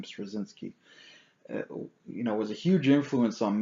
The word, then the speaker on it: Straczynski: Michael Straczynski, I believe that's how you pronounce his last name, Straczynski, was a huge influence on me.